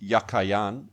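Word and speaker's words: יָכִין: of the two names the word jaqen in hebrew is yakin it was probably pronounced yakayan and meant as a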